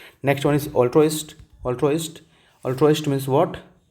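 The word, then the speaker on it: altruist: Next one इज़ ऑल्ट्रोइस्ट। ऑल्ट्रोइस्ट। ऑल्ट्रोइस्ट means what? मैं लिख दूं ना इसको प्रोनाउंसिएशन कैसे करते हैं? अल ट्रोस्ट अल्ट्रोइस्ट यानी कि जो एक तरह से लवर ऑफ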